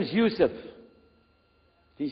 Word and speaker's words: Yusuf: we'll work on it inshallah my name is Yusuf do you say Yusuf Yusuf you're very good I wish you'd teach my wife she keeps mispronouncing it she calls me useless from the left now how many of you